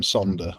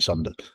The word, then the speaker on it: sonder: There's that term sonder or sunder, S-O-N-D-E-R. It's like wonder, but sunder.